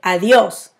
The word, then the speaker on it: adiós: See, you have another accent here. So you say adiós.